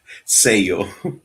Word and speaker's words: Sello: Yeah, it's Grupo Sello. So it's Yeah, like a seal, un yeah.